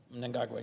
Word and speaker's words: Mnangagwa: And you always correct me on my pronunciation, so I'm going to try my best. Mnangagwa. Mnangagwa, yes.